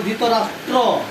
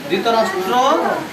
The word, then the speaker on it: ধৃতরাষ্ট্র: হবে না এটা হবে ধৃতরাষ্ট্র ধৃতরাষ্ট্র উবাচন যে ত এর নিচে র ফল আছে না সেজন্য র ফলার পূর্ণ উচ্চারণ হবে ধৃতরাষ্ট্র তারপর কি আছে